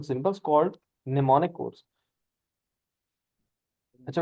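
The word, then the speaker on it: mnemonic: हैं फर एमल एशन बेटा am silent है यह साइलेंट है साइट निमोनिक ठीक है एडवांटेज इसके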